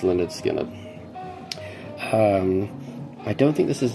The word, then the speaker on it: Lynyrd Skynyrd: We have Lynyrd Skynyrd, pronounced Lynyrd Skynyrd.